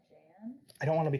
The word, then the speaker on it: Jan: a problem with with how caillou pronounces my name j a anne and he calls me and i don't get it sorry about that i i see now why it so it's jan i mean my real